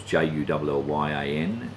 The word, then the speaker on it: Julian: He married Jessie Julian, and the streets here are named after them, which is Jullyan. Everyone pronounced it incorrectly.